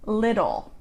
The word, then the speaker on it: little: The T sound in American English sounds like a D. So like the word little. Little, little. We'll pronounce it with a D sound, little, lid, d.